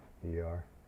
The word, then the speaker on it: Worcester: Worcester. Worcester. Worcester. Yeah, we have a Worcester here, but it's just spelled like the way you typed it the first time. Wooster.